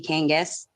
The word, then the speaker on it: Kangas: we appreciate you uh uh and I hope I pronounced that last name right please do correct me if it's incorrect names are important yes names are important so good morning my name is Kangas um and I would